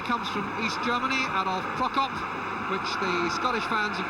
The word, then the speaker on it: Prokop: The referee comes from East Germany, Adolf Prokop, which the Scottish fans have not been slow to point out could equally well be pronounced Pro-Cop.